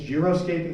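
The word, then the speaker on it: xeriscaping: has some incentives and I always mispronounce this word but I think it's josc caping it starts with an x uh which essentially is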